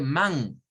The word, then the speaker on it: man: Vea, sí, pero no es del todo una E. Comienza con A y luego va la E. Por eso no podemos decir man.